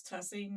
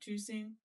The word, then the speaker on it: Tussing: So it's and my favorite one, and I still argue that it's Tussing, not Tusing, but it's out in Pickerington, Reynoldsburg area, and people say it many different ways: Tussing or Tusing.